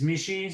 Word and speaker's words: Michit: business partner Mar Lon my last name is Mishi so we were looking for a name with